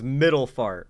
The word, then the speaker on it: Middlefart: Like, seriously, imagine if your last name was Middlefart, and that was literally how it's pronounced.